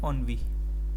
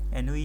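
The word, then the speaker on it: ennui: Next है ऑनवी, ठीक है, विरक्ति, बोर्डम, ठीक है, इसको ऑनवी पढ़ते हैं, ऑनवी, ठीक है, एनवी नहीं है ये, ऑनवी, इसका प्रोनाउंसिएशन आएगा ऑनवी, मतलब बोर्डम, बिल्कुल ही बोर हो जाना।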